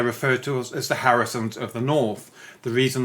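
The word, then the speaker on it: Haruson: We had a Hebrew sounding name that was actually ecclesiastic Hebrew from the 9th century and it's spelled H A R U S O N which sounds like Harrison in the northern dialect as it was centuries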